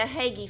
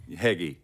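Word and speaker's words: HEGI: very much and then the heggy funds U that's how you pronounce hegy and the high education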